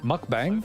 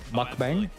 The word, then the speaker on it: mukbang: That's not how you say it. It is bang. Is it mukbang? I like the way bong sounds a little better, but it's probably bang. Mukbang.